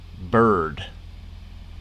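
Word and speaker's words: Byrd: century the answer is richard bird except bird is spelled b-y-r-d richard bird thank you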